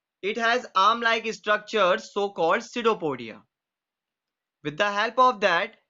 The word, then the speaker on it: pseudopodia: Be careful about the spelling because P is silent. We read it pseudopodia.